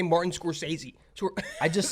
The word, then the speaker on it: Scorsese: how to say Martin Scorsese. I just said his like I know how to spell it. I just say the SC more of like a G.